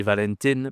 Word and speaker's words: Valentin: oups excuse-moi la saint'sentin ici attention on a une nasale 1. En anglais on dit Valentine mais si ce n'est pas à Saint-Valentine ça existe en plus comme prénom féminin. Valentine c'est un prénom féminin. Attention au masculin, on dit Valentin, la Saint-Valentin.